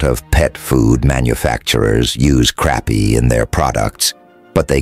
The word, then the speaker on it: crappie: Crappie, pronounced crappie, are prolific and grow to about 2 pounds in 18 months or so.